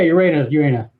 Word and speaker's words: Urena: Is it Urena or? Yeah, Urena. Urena. Okay, Yeah. okay. Cool. A So lot of everyone. people mispronounce that one.